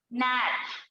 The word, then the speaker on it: gnat: Sign, next है SIGN, sign, यहाँ पर भी जी जो है साइलेंट। नेक्स्ट देखो क्या है? GNAT, इसका मतलब क्या है पता है? नैट।